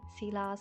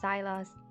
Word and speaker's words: Silas: You can also pronounce his name like Silas or Zylas. I mean, it doesn't really matter. There's not really a justified pronunciation for his name.